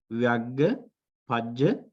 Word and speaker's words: Vyagghapajja: So can you pronounce that Pali word Vyagghapajja?